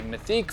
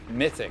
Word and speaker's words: Mythique: A quick correction, I've been calling this model a Mythique for quite some time, but it's actually pronounced Mythic.